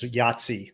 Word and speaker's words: YATC: It's called Yahtzee, YATC, like pronounced like Yahtzee, which I thought was cool.